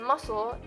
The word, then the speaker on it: muscle: In muscle, SC is S.